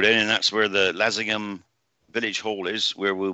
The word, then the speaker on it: Leasingham: So anybody near in Lincolnshire around that area that want to come, it's in Lessingham. It's spelled Leasingham, but they pronounce it Lessingham.